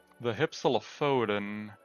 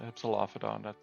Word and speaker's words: Hypsilophodon: I'm gonna quickly replace the Hypsilophodon. It's not how you pronounce it. Hypsilophodon. That's better.